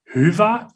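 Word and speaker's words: Hyvä: Like we're here to make people happy, merchants, developers, agency owners, and the right pronunciation, if you ask a Finnish person, would be HYVA.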